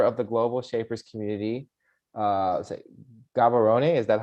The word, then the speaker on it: Gaborone: Gaborone, is that how you say it?